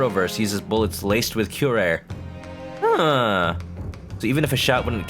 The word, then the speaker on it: curare: meaning of this oh this is how you pronounce it kirari curare okay kirara okay curare what is the meaning